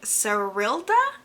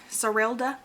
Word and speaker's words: Serilda: it follows a young girl named serilda i believe is how you say her name sorelda she has been cursed